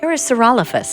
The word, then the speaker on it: Parasaurolophus: even, Can dare we- I say, beautiful pronunciation. Yeah, can we hear that Thank one more you. time? What was that? Parasaurolophus.